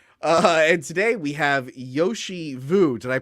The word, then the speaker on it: Yoshi Vu: Uh and today we have Yoshi Vu. Did I pronounce that right?